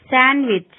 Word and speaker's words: sandwich: D is not pronounced in the following common words: handkerchiefs, Wednesday, sandwich, handsome. D is not pronounced in the combination D, G.